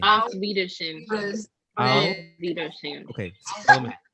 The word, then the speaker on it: Auf Wiedersehen: So Zan is like a verb that means to see, and then so Zan, and then Alvida is like I presume it's later.